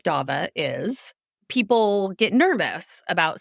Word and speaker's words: Davah: same thing which is hi my name is daba it rhymes with Loba there you go that's my thing because when you grow up with an unusual name like Dava is people get nervous about saying your name